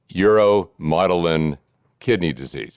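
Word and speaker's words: uromodulin kidney disease: And it wasn't until 2016 that genetic testing revealed the cause of kidney disease in your family, uromotilin kidney disease. Did I pronounce that correctly?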